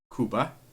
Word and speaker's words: Cuba: doing Cuba where it's as it's pronounced there kuba it is now legal